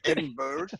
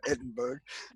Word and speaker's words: Edinburgh: accent, and also that instead of saying Edinburgh, he says Edinburgh. Only Americans say Edinburgh, like Pittsburgh.